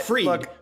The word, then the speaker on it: Fried: You pronounce it freed, but it's written fried, and it's Bankman.